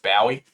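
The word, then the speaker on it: Bowey: matt the ball jake bobby i think his name is actually pronounced bowie we'll hit up jd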